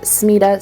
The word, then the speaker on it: SMETA: SMETA, which I believe is typically pronounced SMETA, stands for the SEDEX Members Ethical Trade Audit.